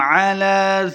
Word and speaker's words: عَلَى: گے۔ لربه لکنود، وَإِنَّهُ عَلَى ذَلِكَ لَشَهِيدٌ، نون مشدد ہے، غنہ کرنا ہے۔ عَلَى، عین کو تلفظ سے پڑھنا ہے، لام کے اوپر کھڑی زبر ہے، 2 حرکات لمبا کریں گے۔ عَلَى، عین کو حلق